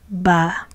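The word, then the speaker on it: בַּ: Now, when it means by the, we pronounce the prefix bet as ba.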